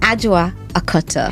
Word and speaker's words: Adwoa Akoto: Aua Akata.